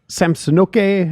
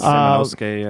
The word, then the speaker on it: Samanosuke: You're looking at Samsonoke. I probably pronounced his name wrong. No, that sounds Samanosuke, I think.